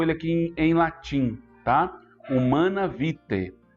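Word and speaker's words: Humanae Vitae: Humana Vitae. Esse AE aí se pronuncia E em latim, que você entenderá o ensinamento da igreja.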